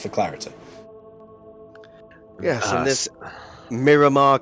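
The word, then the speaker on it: Merramar: Miramar, which is spelled M-E-R-R-A-M-A-R, Miramar, Clade, K-L-A-D-E, Miramar Clade.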